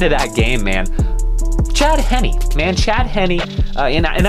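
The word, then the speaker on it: Henne: that game man chad henny man chad henny and and i will say i have been pronouncing his name wrong so i apologize chad henny i've been i've been calling you chad heen because frankly i don't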